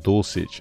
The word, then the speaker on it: Dulcich: i guess size uh says he pronounced dosage okay dosage okay walked